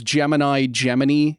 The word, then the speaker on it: Gemini: NASA calls Gemini. This is their official pronunciation, and it's stupid.